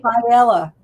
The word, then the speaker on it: Faiella: Faiella.